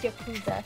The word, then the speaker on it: Yakuza: And by the way, it's Yakuza. Yeah, I know. I purposely pronounced it properly because some people love Yakuza.